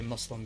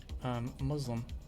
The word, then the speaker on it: Muslim: I guess I should say Muslim because they actually roast that in the show because it's not a Z. A lot of Americans say Muslim when that is not how it's pronounced.